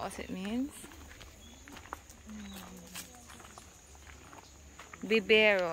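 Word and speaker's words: vivero: not what it means bibero I forget that you must pronounce it with a B okay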